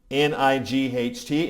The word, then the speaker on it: night: So a sight word is something like a phonetic disaster. Like if I say the word night, N-I-G-H-T, if I'm doing that phonetically, it comes out, right? It's a weird word.